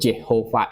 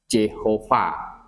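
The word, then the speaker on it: Jehovah: ya guru tradisi he itu dikasih huruf hidup jadi yang EE YH VH itu yang huruf mati semua Dikasih huruf hidup wah bacanya jadi Jehova Jehova gitu penerjemah King James pakai lafal itu Jehova itu jadi yang JH VH itu di dalam King James itu dibaca Jehova mereka memakai ee apa namanya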